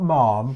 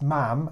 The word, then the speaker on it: Ma'am: and they say Ma'am, it's not Ma'am because that's as in harm. It's Ma'am as in ham.